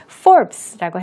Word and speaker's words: Forbes: 포브스 이렇게 얘기하지만 우리 말이 아닌 영어로 발음하실 때는 Forbes라고 해서 이 E라는 모음이 들어가 있기는 하지만 발음을 하지는 않는 그런 부분입니다. Forbes 하지 마시고요. Forbes 이렇게 받침이 비읍 받침이 있는 것처럼 발음한다고 생각하시고 또 들으실 때도 염두에 두시면 되겠습니다.